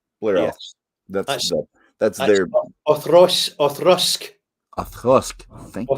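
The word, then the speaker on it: Auchroisk: That's their Othrusk. Othrusk. Thank you. Othrusk, that's it. Occasionally pronounced Othroisk, which is fine.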